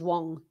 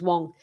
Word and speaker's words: Wang: alex well it's it's it's spelt with the a but uh the way you pronounce it i believe is wong um in in chinese i may be wrong on that but i checked the pronunciation and i think it's i think the way you pronounce it is wong what a rally this